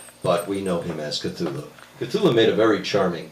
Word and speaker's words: Cthulhu: it's an alien name the closest you can get is to make a coughing sound and it's more like claw that's as close as we can get but we know him as cthulhu catholic made a very